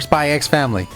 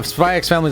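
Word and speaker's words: Spy × Family: No, Spy X Family is amazing, but apparently, you're not supposed to say the X on any of those. The X is not supposed to exist when you say those names.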